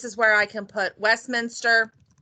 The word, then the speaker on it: Westminster: And this is where I can put Westminster. Yes, I said Westminster, not Westminster.